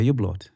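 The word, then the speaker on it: Hublot: It's a U-blood. No. I hear it's a U-blood. The H. It's silent. Silent, yeah. I hear the H is silent.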